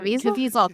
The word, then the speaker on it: Caviezel: Like, I was gonna say if we got Jim Caviezel or however you pronounce his last name, Caviezel, thank you.